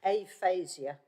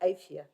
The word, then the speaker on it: aphasia: So, I hate to correct you, but it's aphasia. oh, It's somebody who can't speak and can't pronounce the words. It's not aphia, it's aphasia. The PH comes out as a F.